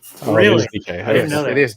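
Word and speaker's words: Dike: DK. It is DK.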